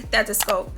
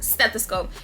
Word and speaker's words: stethoscope: a littman 3 classic stethoscope stethoscope you guys always pick on me on how i say that some of y'all be like the s is styling you pronouncing the t too much stethoscope y'all know what